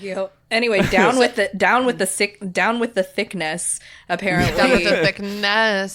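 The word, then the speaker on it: Thicknesse: It's THICKNESS. It's really funny. It's like the word finesse. But with then there's, thick in it.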